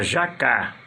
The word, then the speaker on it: jacá: Jacá, o sílaba forte é o K. E jaca, o sílaba forte é o já. Um é paroxítona, é outro oxítona.